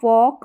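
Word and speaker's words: fork: क्या है when a फॉक was dropped यहां पर साइलेंट रहता है जो कांटे वाली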